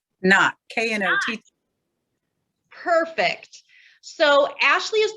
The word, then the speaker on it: Knott: ashley how do you say your last name not know perfect so ashley is the coordinator of